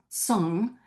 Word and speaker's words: cong: The carved jade congs, sometimes pronounced song, that we will study today were created by the Liangzhu culture in South Central China.